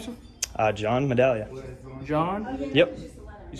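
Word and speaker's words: Medaglia: Uh, John Medallia. John. Yep. You spell it J O H N.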